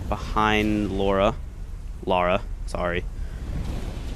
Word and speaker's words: Lara: I guess maybe Lara is the way you pronounce it. I think in England, actually. As far as I remember, I heard something like that. That could be completely incorrect. If you're from England, do you pronounce it Laura or Lara? Because here in the States where I live, it's Laura. Usually.